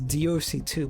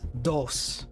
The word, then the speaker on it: DOS: Also, wait, I always pronounce Divinity as DOC2, but Actually, I watched one of the GDC talks from Larian, the one like about the character design, and they actually pronounce it as DOS.